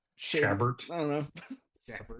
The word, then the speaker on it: Chabert: What do you think it was? Sherbert? Chabert.